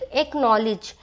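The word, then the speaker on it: acknowledge: नॉलेज यहां पर आप सी का साउंड यहां पर नहीं करोगे क्योंकि यहां पर कहा गया है देखो अगर आपका के और क्यू के पहले सी आएगा तो वहां पर आपका सी क्या रहेगा साइलेंट रहेगा तो यहां पर सी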